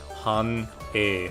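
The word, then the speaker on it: 繁栄: Han-e, I believe. Hane. Gotta type it in Japanese. Yeah, here we go. So yeah, I said it right, but I said it wrong the first time.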